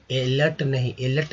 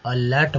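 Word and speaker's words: alert: पर अ का उच्चारण एलर्ट नहीं बोलते हैं इसे, ए है इसका मतलब एलर्ट नहीं बोलेंगे, अलर्ट बोलेंगे, ठीक है, अलर्ट। अब देखिए, ई का उच्चारण अ के रूप में हुआ है, तो अ एल के साथ अ लगा तो क्या हुआ, ल ही हुआ, आर टी होगा तो अलर्ट, अलर्ट, एलर्ट नहीं, अलर्ट।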